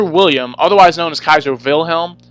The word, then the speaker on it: Wilhelm: But Kaiser William, otherwise known as Kaiser Wilhelm, Wilhelm is how you pronounce it, if you're pronouncing it the way a German would, we would say William.